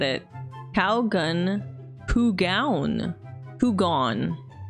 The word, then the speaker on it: Kougaon: thing from that video is his name is pronounced Kougaon. Oh my god. You didn't know? How did you used to say it? With his name, I wonder all the types of ways people have said it. Kougaon.